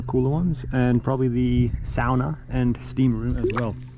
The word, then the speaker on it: sauna: to get comments of saying it's sauna, not sauna. No, it is sauna. That's the proper way to say it. Sauna is a Finnish word, and that's the way you say it. The English pronunciation sauna is wrong, I'm afraid.